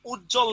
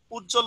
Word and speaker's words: উজ্জ্বল: সন্ধি বিচ্ছেদ করতে গেছে, কিন্তু আমরা এটাকে কি উচ্চারণ করি? উজ্জ্বল না? আমরা এটাকে উজ্জ্বল উচ্চারণ করি।